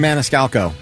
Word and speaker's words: Maniscalco: Sebastian Maniscalco.